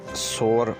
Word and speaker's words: soar: इसी से मिलता जुलता हमारा अगला लफ्ज़ है soar, SOAR, soar। ये लफ्ज़ सोर पढ़ा जाता है और इसका मतलब है ऊपर की जानिब जाना या हवा में उठना।